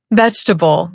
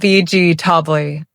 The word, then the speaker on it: vegetable: Vegetable sounds like vegetable, not veg. Tobi.